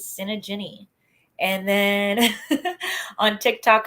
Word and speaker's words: Tsinajinnie: twitters i am at the t is silent because my name is cinegini and then on tick